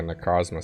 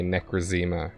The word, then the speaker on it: Necrozma: Because it's going to be like a Necrozma situation. Is that how you say its name? Because I used to say Necrozema because I thought it sounded cooler.